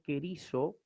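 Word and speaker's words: κηρύσσω: La doble sigma se va también a leer como una sola E sigma, como una sola S castellana. Por ejemplo, el verbo querizo, que es el verbo proclamar, vamos a leerlo precisamente querizo.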